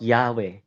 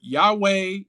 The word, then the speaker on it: Yahweh: four-letter name of God an attempt to pronounce it will get you to either Yahweh Yahweh uh it's it it's